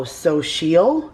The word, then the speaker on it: Xochitl: It's Xochitl. And, oh, Sochil, it says. Sochil underneath.